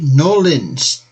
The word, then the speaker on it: New Orleans: Orleans to be precise or as the locals say norleans we'll catch the NOA